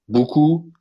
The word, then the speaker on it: buku: In France, when you want to make the sound U, you have to put O and U, the letter O and the letter U.